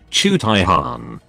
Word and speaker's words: Jaghatai Khan: space marines legion chapter whose name nobody in vl audiobooks can pronounce protip chu taihan he went missing with